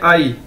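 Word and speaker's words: 阿姨: से मिलकर बना है, लेकिन इसको प्रोनाउंस कैसे करना है, आई। ठीक है, ए वाई आई आई आई, जिस तरह इंग्लिश का वर्ड है आई।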